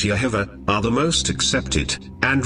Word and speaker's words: Jehovah: Of all the pronunciations, Yahweh and Jehovah, correctly pronounced as Yehovah, are the most accepted, and really, all the variations cling to either one, coming from the root, Yah.